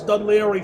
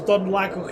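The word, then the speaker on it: Dún Laoghaire: I didn't know how to pronounce Dunleary for a long time. I thought it was Dunlago here.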